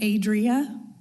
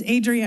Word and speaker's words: Adria: ad Divia aaat hello my name's Adria it's okay nobody can pronounce it right it's Adria and I'm a resident